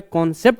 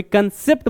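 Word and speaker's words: concept: अब ये मत कहना सर आप बोलते हो कॉन्सेप्ट कंसेप्ट, भाई मैं समझता हूँ, जब मैं कॉन्सेप्ट कहता हूँ तो ये है असली प्रोनाउंसिएशन, कभी कंसेप्ट बोल देते हैं।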